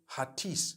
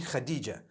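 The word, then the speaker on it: Hatice: across the name Khadijah in Turkish some people spell it h a t i c e I would say hatis for that no it's actually Khadija in Turkish that's the way they write it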